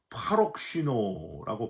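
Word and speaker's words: παροξύνω: 헬라오로 파록시노라고 발음을 하는데 아주 발짝하는 분노를 의미하는 단어가 파록시노입니다.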